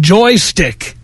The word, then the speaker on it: Joystiq: to home base according to popular gaming blog joystick that's Joystiq spelled with a Q yeah to feminists game sites